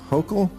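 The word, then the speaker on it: Hochul: Uh, what do you New Yorkers think of how Mayor Eric Adams and Governor Kathy Hokll Yes. Yes. You pronounced it right.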